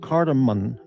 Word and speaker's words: cardamom: It's a um sometimes called cardamom. I've heard it pronounced cardamom. Yeah. Cardamom. Sometimes pronounced cardamon or cardamom.